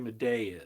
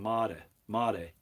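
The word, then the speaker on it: Madej: know who Dr Carrie Maday is I think she actually pronounces her last name Mata mate but at any rate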